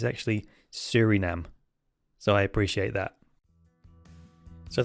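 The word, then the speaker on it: Suriname: list of five and I think uh I pronounced it Sur name because that's how it's spelled but this gentleman has kindly corrected me with its pronunciation it's actually Surinam so I appreciate that so thanks for joining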